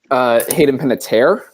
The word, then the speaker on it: Hayden Panettiere: See if Jack can actually pronounce it right, though. Hayden Panettiere.